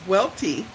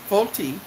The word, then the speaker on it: Welty: Your last name is Volti. And my cousin said, no, it's Welty. And he says, well, that might be how you say it in America, but it's really originally pronounced Volti. Volti. And comes from around in the Switzerland, Liechtenstein area.